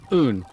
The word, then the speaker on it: Uun: That's how you pronounce it. Oon as in as Zoo, I think you said somewhere on Reddit.